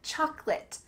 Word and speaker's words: chocolate: And to go along with dessert, we have chocolate, chocolate. There's a lot of sounds in the middle of this word that are being reduced.